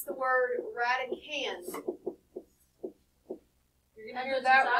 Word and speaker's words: radicand: So radican, the D on the end is silent. It is not radicand. And we're not saying radidon't. It is radican.